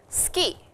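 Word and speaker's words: 好き: the conversation which was suki suki means like and the way it is pronounced in japanese is ski so it sounds like skin but it is not skin it is to like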